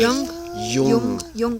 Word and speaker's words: Jung: And it was the really word pronunciation is Jung.